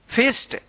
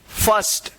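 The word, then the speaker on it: first: इसको क्या पढ़ेंगे आप फिस्ट नहीं इसको पढ़ेंगे फर्स्ट क्या पढ़ेंगे फर्स्ट यानी आई के जस्ट बाद आर रहेगा तो इस आई का अ उच्चारण होगा।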